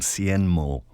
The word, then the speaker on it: Hsienmo: It's a brand called Cienmo. It's spelled Hsienmo.